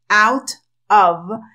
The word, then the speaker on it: out of: de dos vocales y cuando la t queda dentro de dos vocales ellos la pronuncian como una d y nosotros escuchamos una r nosotros Entonces ellos dicen